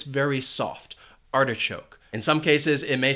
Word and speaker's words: artichoke: Next is artichoke. This food has 3 syllables, and the stress is on that first syllable, artichoke.